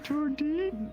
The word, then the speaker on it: Tori: Tori. Oh, it rhymes with tortoise.